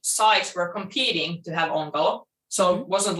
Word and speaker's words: Onkalo: So you have Onkalo, is that pronounced correctly? Onkalo?